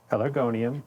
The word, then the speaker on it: Pelargonium: Pelargonium. Pelargonium. No, pelargonium. You're putting the R on the other side of the G.